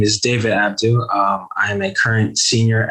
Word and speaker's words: Abdo: Am I pronouncing that right, David? Abdo? It's Abdo, but it's fine.